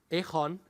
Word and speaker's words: Egon: And not in a good way, I thanked them because they gave me the soft G in my name, which people find very hard to pronounce.